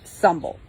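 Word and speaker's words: symbel: it is pronounced bloat and symbol which is pronounced sumble Heathen groups and individuals hold feasts and celebrations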